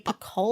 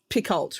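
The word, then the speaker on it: Picoult: Jodie Pakoli. I used to think it was Picult, right?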